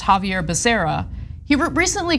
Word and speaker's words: Becerra: Javier Becerra, his name is pronounced Javier Becerra. He recently called him Javier Bacaria.